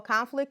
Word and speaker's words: conflict: Well, conflict is a word, okay, and it is spelled that way, but conflict is a thing, it's a noun, okay, a problem. And here we're using it as a verb, and so the pronunciation changes just a little bit.